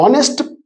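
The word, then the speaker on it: honest: అంటే కొన్ని పేర్లు ఆంగ్ల హల్లుతో మొదలవుతాయి, నో ప్రాబ్లం, హల్లుతో స్టార్ట్ అవుతున్నాయి, బట్ వాటి ఉచ్చారణ మాత్రం అచ్చులతో మొదలవుతుంది. ఇక్కడ ఎగ్జాంపుల్ చూస్తే ఇంకా మీకు క్లియర్ అవుతుంది. అన్ ఆనెస్ట్ person, ఎన్ hour ఇక్కడ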